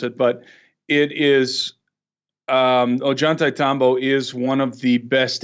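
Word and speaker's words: Ollantaytambo: and very few people know how to really pronounce it but it is Ajanta Tombo is one of the best examples of cyclopean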